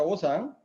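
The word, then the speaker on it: 오상: Las 5 virtudes morales cardinales del confucianismo se llama Wu-Chang, en coreano se pronuncia Osang, son la benevolencia, la rectitud, el decoro, la sabiduría y últimamente la fidelidad.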